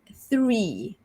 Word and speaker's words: three: The first cluster is THR, as in the word three. Three. So this is a difficult sound for some of us, especially in Malaysia, because this is a sound that we don't really say in our native language, Malay.